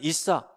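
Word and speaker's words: عيسى: 대한 내용이 나와요 이제 꾸란 에서는 그 발음을 있어 라고 합니다 결국에는 이 성경에 있는 예수 그리고 꾸란 에 있는 이싸 다 같은 이름이고 마리아의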